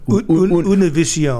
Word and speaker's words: Univision: I want to make sure I pronounce it with some flair. Univision.